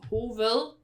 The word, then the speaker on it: hoved: But even though it's spelled hoved, we say we don't pronounce the V, so it's just hoved.